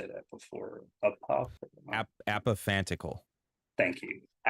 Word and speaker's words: apophantical: I think I've heard you say that before apophantical thank you say it again apophantical apathetical are founded upon interpretation in its structure